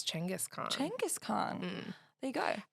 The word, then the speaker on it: Chinggis Khan: He was talking about Genghis Khan. Yeah. And how he was Chinggis Khan.